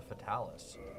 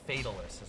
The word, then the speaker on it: Fatalis: I love the lore of the Fatalis in Monster Hunter. Or I guess it's Fatalis is how it's said in the game. They say it Fatalis, not Fatalis.